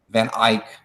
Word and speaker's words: van Eyck: who is that how you say his name van Eyck my wife says my wife she's here she doesn't want to be on camera she's here to correct our pronunciation and we all say act because it's uh sounds like it's written and